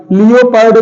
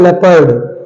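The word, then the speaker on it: leopard: लोग ओके अगला है एल ई ओ पी ए आर डी लियो पर्ड नहीं है ये है लेपर्ड लेपर्ड ओ इसमें क्या हो गया साइलेंट हो गया है ठीक नेक्स्ट हमारा है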